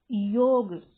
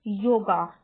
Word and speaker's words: योग: में स्पेलिंग लिखी है, वापस अगर इसको पढ़ते हैं तो हम क्या बोलने लग जाते हैं, योगा। अब ये योगा कहाँ से होगा भैया, जब हिंदी का ये मूल शब्द है और इंग्लिश में इसकी स्पेलिंग लिखी है, तो जो लास्ट में जो ए है वह ए साउंड को रिप्रेजेंट करता है, यानी योग।